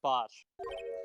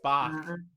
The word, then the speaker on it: Bach: oh god my ears i never could remember how to pronounce bosh it's bach god you've summoned him